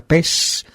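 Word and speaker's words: παῖς: la palabra griega se se escribe Pais se pronuncia pes significa servidor siervo criado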